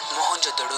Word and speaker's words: मोहनजोदड़ो: आओ दोस्तों आज हम मोहन जोदड़ो की गलियों में घूमते हुए हमारी प्राचीन सभ्यता के गौरवपूर्ण अतीत को महसूस करने की कोशिश करते हैं मोहनजोदड़ो शब्द का सही उच्चारण है मोहन जोदड़ो और सिंधी भाषा में